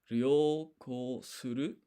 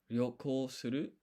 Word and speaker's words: 旅行する: uru, To travel is ryoko suru. 旅行する、旅行する、 Interesting. You barely hear that R there. Ryoko suru.